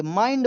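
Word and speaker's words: mind: निर्णय when your माइंड इसे मिड नहीं पढ़ेंगे माइंड बोला जाता है ठीक है इज क्लाउडडी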